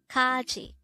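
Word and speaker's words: 까지: angle foreign number 202 Kaji this is pronounced the two syllable word the first syllable is Ka second syllable is chi pronounce it with me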